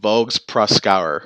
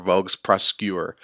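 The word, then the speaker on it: Voges-Proskauer: about the next test Vogue's Proskauer or Vogue's press skewer however you want to pronounce it you can also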